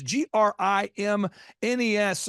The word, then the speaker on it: Grimnes: If you add an S, you will pronounce it correctly. Yeah. So think of it. My dad would say, think of it as like, don't say this, Dad. He's like, think of it as like the grimness of the situation.